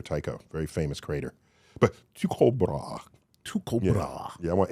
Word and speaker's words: Tycho Brahe: will show off now that I can pronounce his name. Okay, who is this? Tycho Brahe. Ty- Tycho Brahe, we call him.